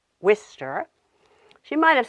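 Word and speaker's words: Worcester: be pronounced for example she might have said war sister instead of Wistar she might have said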